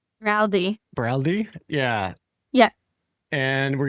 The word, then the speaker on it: Baraldi: Baraldi.